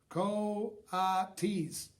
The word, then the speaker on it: coatis: "Those are coatis," Mrs. Brisbane said, reading from the letter, pronounced coatis. The coatis looked weird.